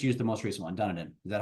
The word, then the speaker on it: Dunedin: Dunedin. Is that how you pronounce it? Dunedin.